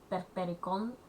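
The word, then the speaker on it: Perperikon: It's pronounced Perpericon.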